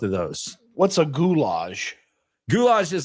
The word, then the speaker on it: goulash: what what is gulage I probably said it wrong I called it gulage but Gage yeah goulash okay okay I got you yeah though this